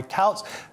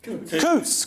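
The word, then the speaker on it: Coutts: In one of the most notorious cases, reform UK leader Nigel Farage was dropped by Couts Couts Coots Coots, which is I don't know, that's far too rich for me.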